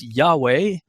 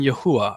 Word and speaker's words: Yahuah: Some say, well, there's no J, so it should be Yehovah. And others say, well, there's no V either, so it should be Yahuah. Others say, no, it's Yahweh. And I have settled on Yahuah.